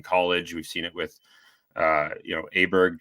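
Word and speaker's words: Åberg: We've seen it with Aberg turning Aubert, I guess is the proper pronunciation, turning pro so quickly and winning.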